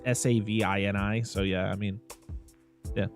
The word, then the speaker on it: Savini: his name correctly so how do you say it it's Tom savini savini okay I mean at